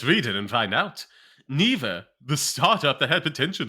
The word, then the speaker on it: Neeva: sad for me neither is that how you pronounce it yes and neither there would be Google competitor is shutting down